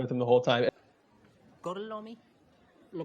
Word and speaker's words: Gorlami: Gorlomi? Lo pronuncio correctamente?